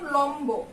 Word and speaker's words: লম্ব: যেমন লম্ব, এই যে দেখো আমরা উচ্চারণে বানানটা লিখেছি লম্ব, তারপরে আমরা লিখেছি কম্বল।